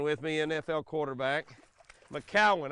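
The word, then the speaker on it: McCown: I got Luke McGowan with me, NFL quarterback. McCowan. I keep saying McGowan. I know, Luke, it's McCowan.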